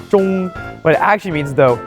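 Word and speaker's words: 钟: The first is the clock, and it's all because of pronunciation. For this, you would say zhong.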